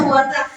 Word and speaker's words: wortel: L. Bortel. Bortel. Ya, dibacanya wortel.